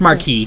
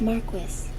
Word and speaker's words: marquis: or a queen and yes I believe it's pronounced marquee Marquis Marquis oh never mind below a duke